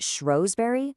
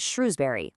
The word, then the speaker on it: Shrewsbury: Is it Shrosbury like a show, or is it Shrewsbury like a shrew?